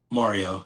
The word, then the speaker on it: Maureo: How do you pronounce your name? Mario. It's just spelled Mario. different. Okay, gotcha. It's So just it's spelled like different.